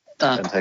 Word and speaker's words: Benteke: Benteke, if you say that. You did that one. You said that one very well, Maris. Benteke, I thought so.